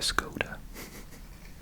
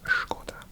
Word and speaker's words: Škoda: I'm overpronouncing Škoda. I think everyone in the UK would call it a Skoda. But yeah, in Czech it's Škoda.